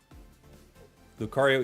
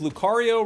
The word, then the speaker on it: Lucario: Today I realized Lucario rhymes with Mario.